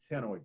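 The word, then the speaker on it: ctenoid: what are called cycloid or tenoid the see here is silent tenoid scales and the tenoid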